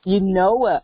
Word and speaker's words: Eunoia: Arielle Smith of Eunoia Wellness Boutique. Did I pronounce that right? Yes, very close. So, yes, Eunoia Wellness. Eunoia, okay.